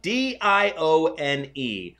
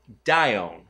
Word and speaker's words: Dione: So it is D-I-O-N-E. I would think it is Dione. Dione. Yes, we're going to go with Dione.